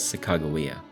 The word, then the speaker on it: Sacagawea: Now, it should be mentioned that her name is also pronounced Sacagawea or Sacagawea, depending on the source, but for the purposes of this video, we will pronounce it as Sacagawea.